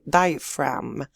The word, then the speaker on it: diaphragm: the diaphragm muscle now notice here the p and the h together they they make the sound f and the g here is a silent letter so we say diaphragm diaphragm so this slide is